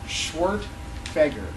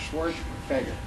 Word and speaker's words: Schwerdtfeger: long last name and it's pronounced schwart fager schwar fager uh so I should